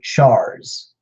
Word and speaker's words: chars: just another made-up word chars kind of like Charizard charged duked classification life-form that